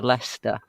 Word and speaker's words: Leicester: craig pronounce things because he'll say things like leicester for lester and it's like nottingham